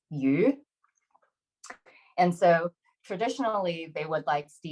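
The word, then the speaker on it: 魚: And then, but when you say the word a little bit differently, so if you pronounce it slightly differently, it's the word fish is yu.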